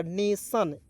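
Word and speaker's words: nation: बाद नेक्स्ट देखते हैं एन ए टी आई नेट नहीं पढ़ लीजिएगा नेशन एन ए का उच्चारण ने के रूप में कर लीजिएगा टी आईओ एन को सन पढ़ लीजिएगा टन नहीं पढ़िए नेशन क्या पढ़ेंगे नेशन चलिए ये तो आपको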